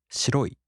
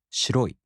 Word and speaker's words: 白い: In the downstep type adjectives, the accent falls on the second to the last mora. For example, a downstep type adjective, 白い.